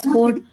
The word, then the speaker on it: chord: First we pronounce it as code.